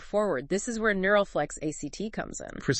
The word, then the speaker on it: ACT: It blends acceptance and commitment therapy, ACT, pronounced ACT, with neuroscience and uh sematic approaches focusing on the body.